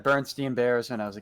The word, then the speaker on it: Berenstain: s-t-e-i-n at the end but it's actually spelled with an a-i-n and it's like what did you call it bear stain or Berenstein that's the thing I said I pretty much said Bernstein Bears when I was